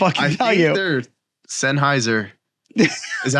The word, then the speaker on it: Sennheiser: could not tell you there's Sennheiser is that how you say it yes that's